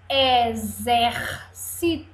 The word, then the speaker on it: exército: o som do X vai mudar exército Vamos ver em pedacinhos em sílabas é dizer se tu exército olha o som do z Zé exército aqui exato